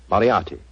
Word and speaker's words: Moriarty: Moriarty.